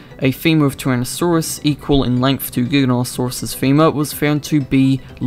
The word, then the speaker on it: Giganotosaurus: pronounce its name, with some pronouncing the G at the beginning like a J. Giganotosaurus. As far as I know, the correct way of pronouncing it is Giganotosaurus.